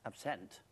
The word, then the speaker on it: absinthe: one word which has hallucinogenic properties and options absent as it should be pronounced it's a French for wormwood and that's